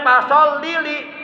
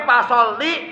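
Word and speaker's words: فَصَلِّ: nambah huruf Alqur'an nah ketika ada orang bacanya pasili itu sudah nambah huruf di dalam al-qur'annya Bukan folili tapi folli lirabbika folli maka Dirikanlah salat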